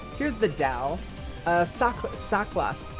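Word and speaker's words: Saklas: Here's the Dao uh Sak Saklos. It's um it's spelled S A K L L A S.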